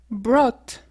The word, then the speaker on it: brought: ça veut dire acheter B c'est le passé brought brought to bring ça veut dire apporter brought